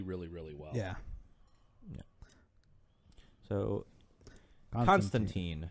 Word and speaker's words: Constantine: comics, I'm going to refer to him as Constantine because that's how his name is actually pronounced.